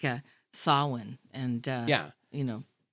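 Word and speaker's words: Samhain: uh you know well pronounced by the way my wife will be very I had to practice that sah please don't say sah no that is what I used to say but I learned yeah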